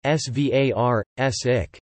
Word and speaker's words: Svartsengi: The Svartsengi Power Station, Svartsengi, Icelandic pronunciation, Svartsik, Black Meadow, in Icelandic,